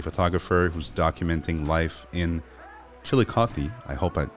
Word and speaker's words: Chillicothe: Matt is a photographer who's documenting life in Chillicothe, I hope I said it right, in Ohio.